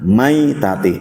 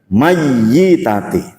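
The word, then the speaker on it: ميتة: Bacanya maitati. Jangan jangan mayyitati. Kalau mayyitati itu adalah mayitah.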